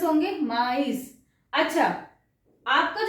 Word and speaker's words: mais: इसको हम प्रोनाउंस करेंगे मे, ठीक है? इसके अंदर सेकंड में त्रेमा नहीं है, इसको हम मे कर रहे हैं, एस नहीं प्रोनाउंस कर रहे लास्ट का, मेस नहीं है, लेकिन यहां पे हम माइस बोल रहे हैं, समझ आया?